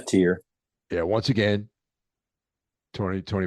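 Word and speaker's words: Tyr: release a Rec record called tier t R I believe that's how it's pronounced yeah tier yeah once again Tony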